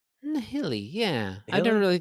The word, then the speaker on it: Nihili: Nihili? Nihili, yeah. I've never Nihili? really thought about Nihili. It's like Yeah, or nihilism, Nihili. I'm thinking basically. nihilism, but it's Yeah. it's a It's Nihili.